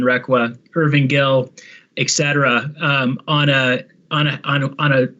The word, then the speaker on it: Requa: So it's pretty hard to look at a building that has, and just for pronunciation, Richard Requa rather than Requa, Irving Gill, etc., on a resource that has the history associated with the community that this one does.